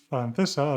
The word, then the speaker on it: francesa: So the first one would be francesa, as Jot says, suena como cero.